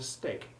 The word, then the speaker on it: steak: Important exceptions here are break and steak, both of which have the long A1 sound, except when you eat your first meal of the day.